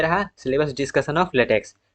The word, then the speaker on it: LaTeX: क्या है लेटेक तो लेटेक प्रोनाउंस्ड एट लेटेक इसको प्रोनाउंस किया जाता है लेटेक या फिर लेटेक okay is based on